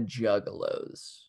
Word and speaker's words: Juggalo: I imagine it being a lot of juggalos. It could be. I'm not against that. Yeah, there's got to be. Not saying no to anything yet. Juggalo rhymes with no, and that hat.